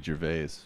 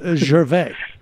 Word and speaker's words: Gervais: French Canadians, and so I'm very particular in the way that I pronounce. It's Ricky Gervais. I'm pretty sure it's Ricky Gervais. He doesn't pronounce it that way. Maybe he's on the lamb. I don't know, but it's Gervais.